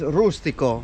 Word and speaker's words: rustico: of Salento, which is rustico. Fantastico. Rustico leccese. Rima con fantastico, infatti. Yeah, it rhymes with fantastico.